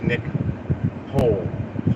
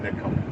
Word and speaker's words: Nicole: That's Nick Hole, like Van Hole, but they pronounce it Nicole.